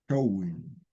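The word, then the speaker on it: Samhain: Showing, pronunciado así esa palabra Sam que dice Show, el Celta, ¿no?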